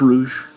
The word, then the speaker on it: Rouge: So what do you think of this whole the architecture of Rouge City, if you will, of Rogue City? No, it's Rouge. It is Rouge. Okay, sorry. It is spelled like the fact that like everything is